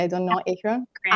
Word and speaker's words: Akron: Did I pronounce it correctly? I don't know. Akron?